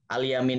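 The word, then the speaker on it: اليمين: fiqih itu al-iman ya nulisnya seperti Aliman padahal bacanya beda al-iman ya kalau tulisan arab-nya itu sama Kalimantan tapi membacanya itu al-alim and I layman ini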